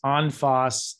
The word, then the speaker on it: en face: here this is called onfoss en face on foss spelled en face f-a-c-e but pronounced on foss you can see how